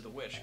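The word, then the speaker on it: VVitch: Yeah, Vitch? it's two V's. No, it's two V's. I thought you just referred to it as the Witch.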